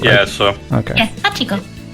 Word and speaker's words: Hachiko: I think that's how you pronounce it, Hachiko, right? Yeah, so Okay. Yeah, Hachiko. It rhymes with pachinko.